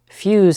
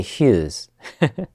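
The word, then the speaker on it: ヒューズ: on him interestingly enough fuse in Japanese is not pronounced with an F it's pronounced with an H now that's not why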